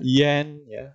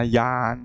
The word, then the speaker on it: yan: ini bukan and tapi Ian bacanya yen yen jadi and jadi yen-yen ada sedikit kayak bahasa Inggris lalu gitu ya ah jadi gitu jadi yen-yen jangan dibaca Yan salah IAIN ya Yan kemudian